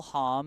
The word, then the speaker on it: Hom: on pronunciation from Paul Hom in the live chat, saying yes, it is pronounced Hom. It's the German pronunciation.